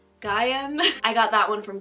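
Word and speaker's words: Gaiam: i use i think the brand is pronounced gm gaium i got that one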